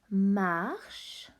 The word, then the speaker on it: marche: Second one, marche. Another final silent E.